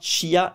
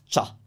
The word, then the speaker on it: ciao: those and think about CIA is one sound cha it's not Chia it's cha that's ciao shurma is the crew